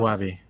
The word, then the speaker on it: Gavi: Guavi. like guacamole, but Guavi. That's his name. Gavi. Oh, is that how you pronounce Gavi? I always say Gavi. I think So it's yeah, Gavi or Guavi.